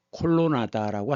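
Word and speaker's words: kolonáda: 이것을 콜로나다라고 한답니다. 콜로나다. 이런 곳이이 지역에 몇 개가 있다 그래요. 그래서 곳곳마다 보실 수 있습니다. 대표적으로이 위에 있는 것은 밀 콜로네이드. 콜로네이드는 이제 영어식 발음이겠죠.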